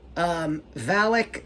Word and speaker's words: Valak: Oh, Valak. Valak, yeah. Valak. Valak. Sounds like you're in Indiana, Raiders of the Lost Ark.